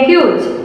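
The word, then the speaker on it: huge: നോക്കിക്കേ ഹ്യൂജ് കണ്ടോ HUG അവിടെ ഈ എന്താണ് സൈലന്റ് ആണ്.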